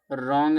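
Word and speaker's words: wrong: यहां देखो W silent रॉन्ग में डब्ल्यू साइलेंट होता है।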